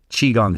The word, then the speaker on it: qigong: the hardest part about chiong is how to spell it so Qi g n g chiong so Holden h o lde n Qi g